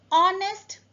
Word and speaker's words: honest: use article a next honest man the H in honest is silent so the word starts